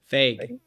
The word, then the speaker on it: Feig: Because how do you say Feig? Feig. Feig. Feig. He directed the Ghostbusters. That's right. Okay. Like Now Tina there's another Fey with a Ghostbusters G. come out. Lord help us. That's a good way to think of it. Fake. Fake. He's Feig, like a Like Canadian with AYG probably would be the pronunciation.